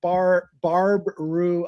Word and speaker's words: Barb Rue: He keeps saying Barb Rue, which it can confuses people because is he mispronouncing Barbara or is it a Bob Rue? It is Barb Rue.